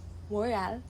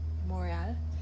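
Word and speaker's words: Montréal: Moral in French, how how we pronounce cuz Quebec. Quebec is a French province. So, it's Montreal. Yeah. Uh tonight. Moral.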